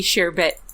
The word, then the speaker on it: Chabert: Maybe it'll be one of Lacey Chabert's. I can't talk all of a sudden. Danny herself. It's French, so it doesn't. It's not pronounced how it looks.